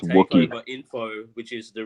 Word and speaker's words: Wookiee: I think it's Wookiee.